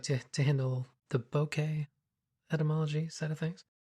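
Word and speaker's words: ボケ: That is as close as I can tell to how it's supposed to be pronounced. I know a lot of people call it bokeh. So the term bouquet is coming from the Japanese word for blur.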